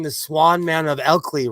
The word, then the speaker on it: Ilkley: Just like Stool always tells me that I'm pronouncing the Swan Man of Elkley wrong. What? What is it? There's a town. It's called Elkley. Elkley. Ilkley?